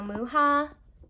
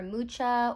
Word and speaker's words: Mucha: Okay, so the next one is the Tarot Muha, or Mucha, or Musha. I've heard it pronounced Muha. I think that's correct.